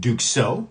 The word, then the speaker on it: Duxot: So, what we're going to do is we're going to go through some watches here that it's actually called Duko. Duxo T. That's how you pronounce it.